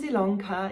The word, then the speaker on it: Ilonka: ilanka my name is ilongka yes it's spelled with an eyeball pronounced with an e and i welcome you